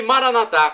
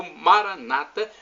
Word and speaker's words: Maranatha: o seu bem e Maranatha com dizemos nós católicos ou Maranata como dizem nossos irmãos separados os evangélicos ou protestantes do importa pronúncia porque o significado é